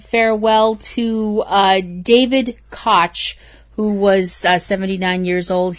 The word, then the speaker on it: Koch: Actually, I think his name is pronounced Koch, actually, Koch?